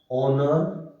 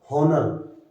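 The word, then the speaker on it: honour: तो इनमें H silent है बेटा, ठीक है, हम इसको हावर नहीं बोलेंगे, हॉनर, होनेस्ट, हायर, ये नहीं बोला जाता, एच is silent, ऑनर, are, honest, आयर, तो इन सब के सामने क्या आएगा बेटा, एन।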